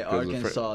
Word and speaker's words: Arkansas: Right, Arkansas. They don't pronounce the last S because it's French.